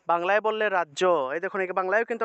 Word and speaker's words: রাজ্য: আমরা এটা উচ্চারণ করি রাজ্য রাজ্য উচ্চারণ করি বাংলায় কিন্তু উচ্চারণটা হবে রাজিয়া রাজিয়া দিব্যায় নৃত্য নৃত্য